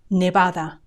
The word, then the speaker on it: Nevada: Nebraska Nebraska Nevada Nevada notice the way I say the v b b Nevada in casan Spanish the Spanish I teach the B and the V have the same sound B NADA Nevada and finally Viria Viria